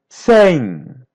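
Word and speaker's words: cem: sang. Here's a letter M. Sounds like a light N sang.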